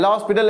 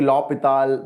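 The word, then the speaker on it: L'Hôpital: darshan is absolutely right a hospital is not the right pronunciation it's actually lopital but it doesn't matter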